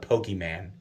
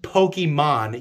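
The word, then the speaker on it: Pokémon: is he always used to intentionally call it pokeman right you people know who you are you know it's pronounced pokemon you call it pokey man as if you're dismissing it so aggressively that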